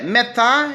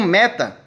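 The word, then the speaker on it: μετά: A preposição é metá, ele pronuncia como meta. Tudo errado, gente.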